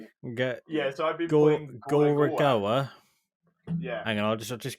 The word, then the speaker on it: Gorogoa: Yeah, so I've been playing Gorogoa. Yeah. Hang on, I'll just give Harry a ring. I'll try to Gorogoa.